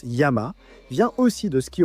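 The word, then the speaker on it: 山: La montagne, eh bien, le kanji pour montagne, qui se prononce yama, vient aussi de ce qui aurait été à l'origine un dessin d'une montagne, non?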